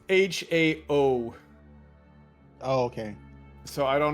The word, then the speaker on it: Hao: h o w and it's not h a o l it's gotcha it's it's Hao but yes you you